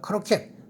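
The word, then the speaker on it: croquette: 고로케는 일본 말입니다. 크로켓 발음 한번 따라 해볼 거예요.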